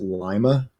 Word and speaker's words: Lima: pronouncing it wrong like there's a Lima Ohio but they pronounce it Lima I mean like is